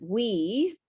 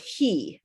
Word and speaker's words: we: And make sure that for the word we, that you pronounce it like an English W, like like weather. We talked about that, not he, okay? Because we, the way you say it sometimes, it sounds like the word he, and he and